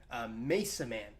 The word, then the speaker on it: Masaman: if you don't know it's supposed to be pronounced Mesa man you know like Mason it was like a